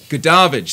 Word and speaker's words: Goodavage: Goodavage.